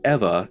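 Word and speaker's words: ʻEwa: If there are any other letters, it's the V sound. So this city is pronounced Eva, and the word for bones is Evi.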